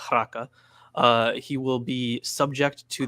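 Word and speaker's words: Raca: But should he say to his brother Raka, or actually it should be pronounced Raka, he will be subject to the Sanhedrin.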